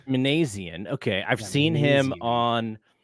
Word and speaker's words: Minasian: the Giants uh signed Zach Manan is that is that how they're pronouncing it uh I believe it's manian manian okay I've seen him